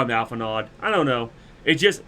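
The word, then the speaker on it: Alphinaud: gonna keep calling you alphanard I'm sorry I'm too used to this I know it's Alpha new I know D is silent but I'ma call him Alpha nod I don't know it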